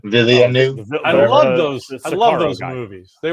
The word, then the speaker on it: Villeneuve: How do you pronounce his last name? Villeneuve.